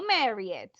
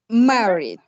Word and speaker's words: married: volunteers go on joanna mario yeah but no marriott married married married that's right i am married good